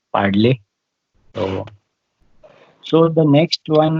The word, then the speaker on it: Padle: If you can spare, pronounce that name of that village, it's called Padle.